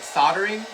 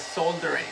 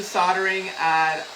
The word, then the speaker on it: soldering: I was like, so I'm assuming the L is silent. I have to practice, Miss Cheryl. Have you done it? I do soldering on my stained glass.